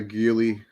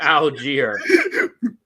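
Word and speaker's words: Allgeier: Come on, Tyler Aguili. He pronounced his name wrong like 30 times. It's a different pronunciation every time. Tyler Algier.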